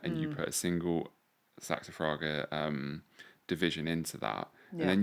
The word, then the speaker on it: Saxifraga: Yeah, I mean, well, on the saxifrage, how do you say it? I say saxifraga.